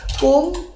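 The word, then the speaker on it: កុំ: 꺼에 쓰라이 조합된 글자입니다 뭐라고 읽어요 껌 예 우리 여러분들도 그렇게 생각하셨나요 꼼 꼼 캄보디아 문법을 알아야 이해가 되는 말인데 꼼이라고 하는 말은 뭐뭐 하지 마세요예요 그러니까 꼼 큰은 저한테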